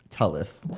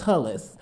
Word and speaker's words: Tulliz: Tulliz. Tulliz.